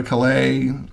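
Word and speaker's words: Calais: Britain, the British put the emphasis on the wrong syllable. Um, I'd go to Klay, um, you know, for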